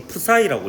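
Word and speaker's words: ψ: 이걸 푸사이라고 읽어요.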